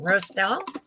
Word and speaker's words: Roestel: uh help me out your last name pronunciation Roselle yes is that correct all right um I